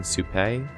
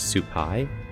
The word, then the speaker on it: Supay: Both T and I mispronounced my new character's name. We kept saying Supay. I found out later it is Supay.